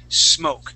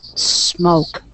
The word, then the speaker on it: smoke: smoke we want to we want to work on eliminating that e and saying smoke try that please smoke smoke great now um